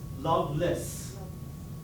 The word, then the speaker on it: Lovelace: And his name is interesting because it is pronounced in English, Loveless, without love.